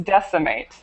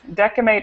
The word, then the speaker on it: decimate: if if it has it's it's decimate decate is the incorrect pronunciation oh decimate is the right so anytime it has an i or an e following it should be the S sound that okay I misunder